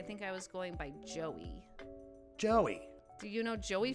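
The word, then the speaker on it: Gieaux: On the Instagram, I got a DM from this guy called Motor Joe. Motor Joe. And it's spelled G-I-E-A-U-X, like Joe, like all French and stuff.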